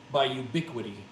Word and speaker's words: Ubiquiti: Yeah, Unify, and I'll spell that for you. It's UNIFI by Ubiquiti.